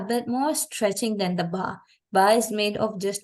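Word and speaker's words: ب: So the ba is pronounced with the inner vertebral parts connecting between, and then the meme with the outer parts.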